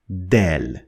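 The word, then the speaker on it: دال: going to be letter del as you can already guess from the pronunciation of del it is compared to the sound de in english like in the word door door and the following are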